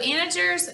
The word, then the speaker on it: integer: all kinds of things so integer is how you pronounce that word and integers are easy